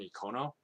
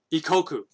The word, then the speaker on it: Ikkoku: It was called Maison Ikono. Ikoko, sorry. Is it Ikoko or Ikono? Let me look it up. Make sure I'm not mispronouncing it. There's an anime. It's called Ikoku.